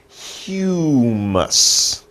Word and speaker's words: humus: It's a little hard to pronounce, but look at this word. It's humus.